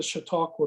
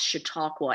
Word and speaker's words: Chautauqua: in trying to pronounce Chautauqua. And if everyone is paying attention at the first few seconds of the video, there'll be a little primer on the subject, but it's like, shh, talk, what?